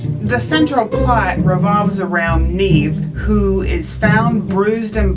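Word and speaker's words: Niamh: in this would be his name neve and i had to make sure i was pronouncing that name correctly because it's spelled n-i-a-m-h nearly everyone else in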